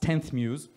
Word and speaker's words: Xmuse: who are there so our brand name written xmuse but uh pronounced 10th Muse is referring first of